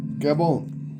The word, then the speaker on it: Gabon: Not bon or bone or boom. It's bone. Gabon. No E at the end, but we're going to pronounce it like it's got an E.